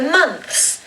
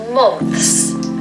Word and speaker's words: month: First of all, the pronunciation of month has this O again that I was telling you about in Monday. It's not an O, so it's not months. It's more like a U sound, again, like the umbrella sound. Umbrella, months.